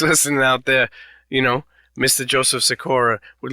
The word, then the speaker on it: Sikora: Well, I mean, the Polish way to say it is Sikora, but I don't, we're in America. I'm not going to be like, Joseph Sikora, you have to pronounce it like this. It's like, no, you can say Sikora, it's all good, man, Sikora.